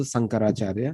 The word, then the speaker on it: Sankaracharya: So when we talk about Adi Sankaracharya, that's a correct pronunciation also, Sankaracharya.